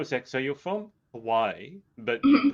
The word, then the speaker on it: Hawaii: a firm believer that we need to pronounce it the correct way and give the respect towards that. And so with that, that's why I always pronounce it Hawaii.